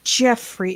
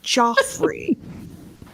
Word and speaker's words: Joffrey: Joffrey has an O in it. It's not pronounced Jeffrey. It's Joffrey.